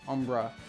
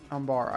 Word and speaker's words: Umbara: at the name after I said Umbra a million times in my Season 4 review, it wasn't that. I think it's Umbara. Umbria? Let me see. Darkness on Umbara. Umbara. I'm pretty sure that's how you say it.